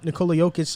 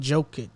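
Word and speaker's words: Nikola Jokić: that's like saying it could like that's like nicola yokish likes that's saying his name that's his name up too and they call it joking joking i think i call him yeah it's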